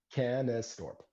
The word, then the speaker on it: Canestorp: So, it's how do we it's pronounce it? Canestorp. Canestorp.